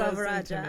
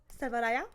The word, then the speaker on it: Selvarajah: Is it Joanna Selvarajah? And I'm like, it is not. We pronounce every letter just the way we do in the English language.